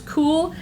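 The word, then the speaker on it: KÜHL: The brand is Cool, K-U-H-L. There is the logo in case you don't see the tag, and Cool is spelled K-U-H-L.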